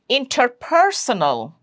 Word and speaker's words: interpersonal: Interpersonal. Interpersonal. Third syllable from the right is per, interpersonal.